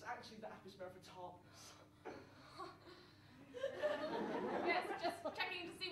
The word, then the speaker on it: Apis mellifera: You actually pronounce the Latin name wrong. It's actually the Apis mellifera.